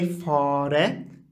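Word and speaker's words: fare: طيب درس دي درس درس، اي اف اي اف بيت، في فاره في فاره فاره. تحدثنا في درس سابق أن الآ فيها مد قليلا لأنه مأخوذ من العربية، فلا نقول فره بل نقول فاره، ليست فاره.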